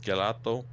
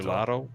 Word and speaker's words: gelato: Get galato. Galato. Galato. Gelato. Oh, gelato. Yeah, gelato. Yeah. Yeah. One G is generally pronounced like a J.